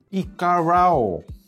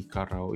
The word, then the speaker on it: iKarao: Apa ya arti Ikarao itu? Harus dibilang cukup intuitif sih ya. Dia bisa langsung masuk ke YouTube. Ada music library, local media, sama Caravan. Oh, ngerti bacanya tuh bukan Ikarao, iKarao. Jadi iKaraoke mungkin ya asal katanya ya.